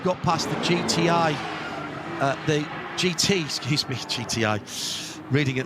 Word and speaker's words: GITI: They've got past the GTI, the GT, excuse me, GTI, reading it literally. GITI is the name of the tyre company, and it's pronounced GT.